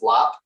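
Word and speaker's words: larb: as well it's called lap it's spelled l-a-a-b or l-a-a-r-b often but it's pronounced lap and it is a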